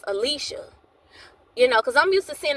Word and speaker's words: Alysha: I used to say Aisha, but one of her family members said it was pronounced Alysha.